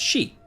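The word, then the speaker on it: 四: The number 4 is pronounced shi, the same as the word for death, and is considered very unlucky.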